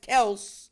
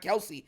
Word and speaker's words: Kelce: that is the Travis Kel and the Patrick Mahomes for everyone that doesn't know his act his actual name is not Kelsey it's Kel his it's just everyone kept getting his name wrong for years they just